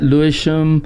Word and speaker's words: Lewisham: Yeah, Lewisham.